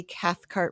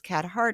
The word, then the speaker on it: Cathcart: it's Cathcart and I say Cathcart really I'm enunciating that because people think it's catart or catart I'll spell it for